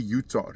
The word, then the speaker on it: Yutar: Percy Yutar. Yutar is spelled y u t a r.